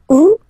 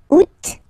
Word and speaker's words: août: Août. First option. Août.